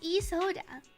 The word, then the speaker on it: Isolde: Alright, oh, you pronounce it like Isoda.